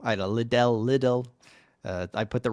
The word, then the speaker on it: Liddell: I think I mispronounced that. It's Liddell. Liddell.